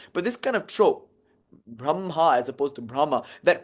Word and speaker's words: Brahma: these lineages for instance we don't say brahma you might hear some people say brahma because it's spelled that way b r a h m a brahma it's braha but again that's not how it's spelled but that rule comes from something in the gautas braha it's spelled braha Aha.